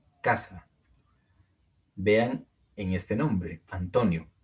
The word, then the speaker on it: Antonio: Vean en este nombre, Antonio. Es una palabra grave. Luego les diré por qué. Pero tiene el acento en la penúltima sílaba.